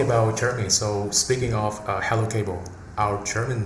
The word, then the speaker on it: HELUKABEL: But how do you pronounce this name in German? You say HELUKABEL. Yeah. HELUKABEL. HELUKABEL. Okay. I'm really curious about how our international colleagues say its name, because in Vietnam, we normally say HELUKABEL.